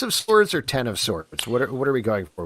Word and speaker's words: X of Swords: a question is it x of swords or ten of swords what are we going for with this one let's pronounce the hickman of swords it's ten of